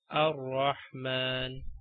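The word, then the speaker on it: الرحمن: If there is a word starting with alif and lam, like you have the hamzatul wasl and the next letter is lam, then read this hamzatul wasl with fatha, like ar-rahman.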